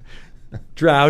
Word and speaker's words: drow: But yes, the only people who are wrong are the people who say "dro" instead of "drow."